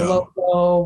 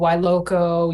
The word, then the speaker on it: YLOPO: It's just tricky for people to pronounce it. I get Yeah. YLOPO, YLOCO, YOLO.